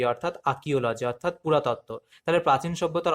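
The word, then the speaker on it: archaeology: Options history, ইতিহাস, option B অ্যানথ্রোপোলজি, নরবিজ্ঞান, option C ইথনোলজি মানে জাতিতত্ত্ব, last option option D অর্থাৎ আর্কিওলজি, এখানে আর এর উচ্চারণটা হয় না, অর্থাৎ আর্কিওলজি এর মানে হলো পুরাতত্ত্ব।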